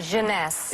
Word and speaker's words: Jeunesse: eight ageless what's the company how do you pronounce it jeunesse jeunesse and it's less than 75 retail with